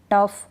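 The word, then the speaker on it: tough: टफ, रफ, लाफ, laughter. अब यहाँ पर हम GH को क्या पढ़ रहे हैं, फ पढ़ रहे हैं।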